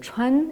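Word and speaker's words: 川: 3 traits verticaux, hein, qui pris isolément se prononcent chuan et qui désignent un cours d'eau.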